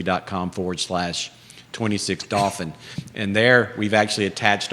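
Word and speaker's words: Dauphin: home's not finished but dolphin is spelled d-a-u-p-h-i-n not like the porpoise but if if you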